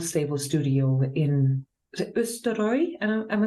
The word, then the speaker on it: Østerøy: in the old stable studio in is it Østerøy? Am I saying it right? Yes. Østerøy, yeah, in Norway.